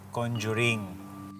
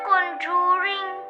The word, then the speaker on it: conjuring: Kaya anak ang tamang pronunciation ay conjuring. I know that daddy. I said it to tita Jenny eh. Sabi niya, "Conduring."